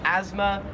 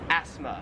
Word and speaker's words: asthma: want to call it in america we call it asthma and in australia it's pronounced asthma we kind of say it more like a z sound like asthma where here it's more like a like an s sound like asthma 13 is this plant